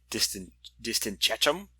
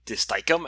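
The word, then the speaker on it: distichum: I've always called it Taxipodium distinctum, and then I heard someone say Taxipodium disticum, and I was like, that's a better pronunciation. I'm going to use disticum from now on.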